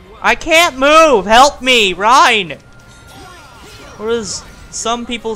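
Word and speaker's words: Reyn: there we go i can't move help me ryan was some people say rain he's literally called ryan in the game why do you call him rain i i don't understand you know some people call ryan rayne and i don't get it at all like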